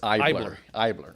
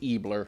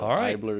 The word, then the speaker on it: Eibler: e r so the E silent so it's ier all my life I grew up being called ebler sure but ier is the German pronunciation so I'm half German so ier is the correct pronunciation well it's you know